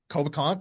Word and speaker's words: Coboconk: Um, but I was looking up this Coboconk. Is that how you say it? Yep. Coboconk or Kobe if you spent some Or time the there.